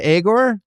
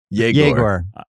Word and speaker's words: Yegor: Yegor. It's not Agor. Yegor.